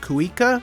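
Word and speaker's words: cuíca: I believe it's pronounced cuica.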